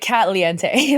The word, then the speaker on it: Katliente: It's like caliente in Spanish, but with K-A-T in the front. And no, my name is not Katie. It's Kat. People always mispronounce it because it looks like Katie if you're not paying attention. It's like Kate Lee. Yeah, it's like Katliente, like that, not like Katie.